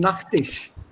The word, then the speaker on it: Nachttisch: The pronunciation for both is the same, Nachttisch. So you don't have to necessarily say Nachttisch. No, Nachttisch. It sounds the same, but when you write,